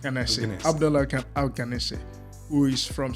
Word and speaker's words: Alqanaisa: How do I pronounce the second name? That's correct. Alqanaisa.